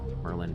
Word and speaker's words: Merlijn: Merlijn van Oostrum and Maarten van Oostrum. I think did I do it right? I think I don't pronounce the J.